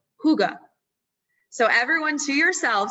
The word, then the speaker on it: hygge: like who and then the second syllable the ga is almost non-existent so it's like hygge so everyone to yourself